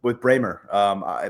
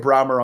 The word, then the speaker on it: Brahmer: And I'm going with Bramer. By the way, it's Bramer, Tyler. I was saying Brahmer until last week, and then I got corrected. So Benjamin Bramer is the pronunciation there.